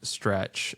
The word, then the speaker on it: STRC: So, first their their STRC, which yeah, I think is pronounced stretch that uh surpassed $100 per share.